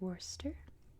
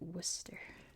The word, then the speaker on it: Worcester: 1651, Charles II flees to exile after last army supporting him is defeated at Worcester.